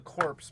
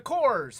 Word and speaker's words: Corps: And And you know, I always wanted to call them the Corpse because you know, Cores is spelled with a P, but they're the Cores, and the Cores is a GI Joe knockoff.